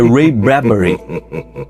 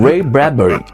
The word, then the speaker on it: Ray Bradbury: eu acabei descobrindo agora, só agora, que a pronúncia correta é Ray Bradbury. E eu vou adotar a pronúncia correta, a pronúncia que é o nome dele mesmo, Ray Bradbury.